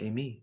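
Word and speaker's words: εἰμί: Eimi. Is that how you say it? No, you just say Amy, which is I am.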